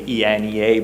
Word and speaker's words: ENEA: ENEA, that's spelled actually ENEA, but it's in Italian we say ENEA, right?